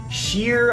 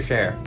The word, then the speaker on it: Scherr: I've had some people call you Scherr, Scherr, Sheer. I'm sure you've heard it all. Yeah. I want to make sure you say it properly. Can you say your name for us? Parker Scherr. Parker Scherr.